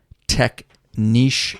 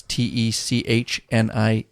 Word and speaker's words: Techniche: You can simply click on that and you can type in Techniche. It's TECHNICHE, Techniche or Techniche, however you prefer to pronounce it.